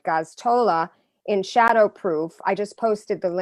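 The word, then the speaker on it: Gosztola: And I have to say, Kevin, I'm going to pronounce his name right, Gaztola in Shadowproof, I just posted the link to their website on my on the show, did an excellent, blow-by-blow description.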